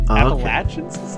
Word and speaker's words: Appalachians: the rocky theal Appalachians I think the correct way to say it appachan Appalachians hey uh I've always heard it pronounced Appalachian I've always heard it pronounced Appalachians but I've heard from people who live there that appalachin is more correct but look this is